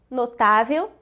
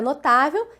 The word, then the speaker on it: notável: Na palavra notável, reconhecemos aqui uma paroxítona terminada em L, com acentuação aqui na penúltima sílaba.